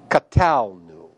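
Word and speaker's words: קָטַלְנוּ: ten and the first Common plural form is pronounced catalu in handout 13 d this is section 13.7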